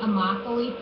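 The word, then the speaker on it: Immokalee: that for me please Deborah that would be amachi Florida amoc Florida sorry guys my pronunciation is terrible uh using Google Earth I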